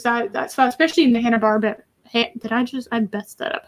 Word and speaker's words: Hanna-Barbera: It was that style, especially in the Hanna-Barbera. I messed that up. How do you pronounce that? Hanna-Barbera.